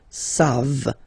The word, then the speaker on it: savent: And then il, here classic ending for il and elle at the plural form, E-N-T, you don't pronounce it, so you get the sound savent, v-v-v-v, savent, okay?